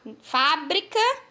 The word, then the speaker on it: fábrica: no caso aí fa fábrica né Deixa eu botar aqui meu mouse no caso aqui ó fábrica na sílaba fa nós temos o acento agudo e pronunciamos pronunciamos com mais intensidade e na palavra que